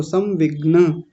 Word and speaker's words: संविग्न: शोक सविघ्न मानस संविघ्न ऐसा बोलिए समविघ्न ग आधा है और न पूरा है। ऐसे भी लिख सकते हैं इसको संविग्न।